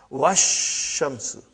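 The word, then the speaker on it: والشمس: But if waw came, put waw in front of this, you will say wash. Even alif and lam both were assimilated. Wash shamsu.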